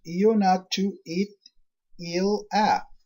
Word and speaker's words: Ionatu Etila: Ionatu Etila, pronounced Ionatu It-Il-A.